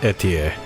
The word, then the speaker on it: Etie: Yeah, her name is pronounced Etier.